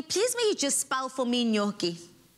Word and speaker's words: gnocchi: just spout for me gnocchi you know how i used to get this one i used to pronounce it and say kanochi and that's how i got it and that's g-n-o-c-c-h-i absolutely